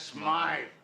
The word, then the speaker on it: Smythe: Mr. Smith is closing up his shop. That's Smythe.